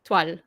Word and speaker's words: toile: So here your le is coming out. Yeah, it's almost like instead of saying le, I just say toile. So you almost just hear the L. Yeah. Yeah. Okay, so that's toile.